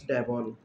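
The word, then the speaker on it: Devol: Robotics মেয়েটা, ওর নাম হলো জর্জ ডেবেল। এখানে ডেবেল হবে, এটা ডেবেল হবে না। কিছু কিছু বইয়ে ডেবেল আছে আর ডেবল আছে, কিন্তু সঠিক উচ্চারণ হলো, সঠিক তথ্য হলো ডেবল থাকতে হবে।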